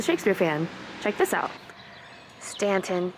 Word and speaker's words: Staunton: Staunton, not Staunton.